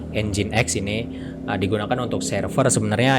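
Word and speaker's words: nginx: kita lanjut ke ingat Atau yang bisa disebut dengan engineers sebenarnya dibacanya engine.exe ini digunakan untuk server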